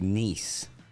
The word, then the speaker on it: Nice: France, that's pronounced nice. Nice. Like the one you're not supposed to date, Bruce.